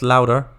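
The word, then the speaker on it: Lauda: Nicky Lauder? Pronounced louder.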